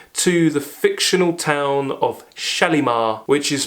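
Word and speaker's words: Shalimar: the fictional town of shalar which is pronounced shalamon and this is a play on words of Solomon he travels to this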